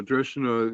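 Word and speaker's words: Drekkana: Dreshana, even though it's got a K in it, it's pronounced Dreshana.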